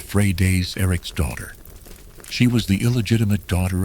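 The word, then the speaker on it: Freydís Eiríksdóttir: Her name was Freighus Eric's daughter, which is pronounced Frey Day's Eric's daughter.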